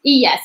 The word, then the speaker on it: ella: So yes, you hablo, ti hablas, él habla, ella, and for the two L is like pronounced yeah. So it's like ella habla, nosotros hablamos.